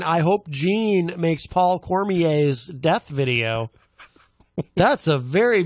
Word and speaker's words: Cormier: He's a stickler for pronouncing Cormier. His name correctly. Yes, yes Cormier. And rightly so. Yes. Rightly so. Yes. It is a French heritage. It comes from French heritage. It should be pronounced properly.